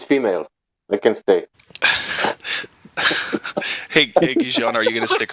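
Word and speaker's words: Gijón: It's Gijon. Yeah, Gijon. He tell you. Thank you, Sasha. That's how I pronounce it, right, Sasha?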